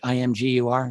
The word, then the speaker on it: Imgur: set up they were on an inger page imgur is how they pronounce it so it was just